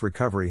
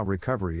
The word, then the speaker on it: recovery: accent of stress is in this case the accent is in the second syllable corresponding to kuf low are other ways to pronounce it now let's see how recovery is used in real